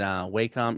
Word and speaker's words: Wacom: secrets that's why i'm here wade said wacom is pronounced and it's from the japanese symbol for